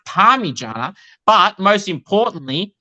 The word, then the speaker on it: Parmigiana: Why do you feel it is what you said it is when it's pronounced Parmigiana, but most importantly, it's spelled P-A-R-M-I when then blah blah blah.